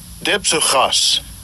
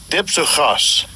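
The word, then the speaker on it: διψυχος: Dipsuchas. Dipsuchas. All right, it says dipsuchas. But if you look at that word, It looks like dicycles. Di meaning two, cycles meaning mind.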